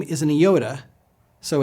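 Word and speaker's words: iota: Theta Theta F Yoda this is a vowel it has the simple e sound ioda say it with me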